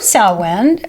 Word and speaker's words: Samhain: So the word Samhain, which is pronounced like sow, like a sow, S-O-W. Yeah, like Ian, Samhain.